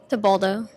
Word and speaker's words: Tabaldo: At 121 pounds, we have Bensoussan, and at 101, we have Tabaldo. Pronounce that. Tabaldo. Tabaldo, thank you.